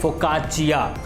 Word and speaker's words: Focaccia: सो फोकाचिया, the bread name is फोकाचिया। Italy में कोई भी चीज़ डबल सी से होती है तो वो चिया करके उसका प्रोनाउंसिएशन हो जाता है।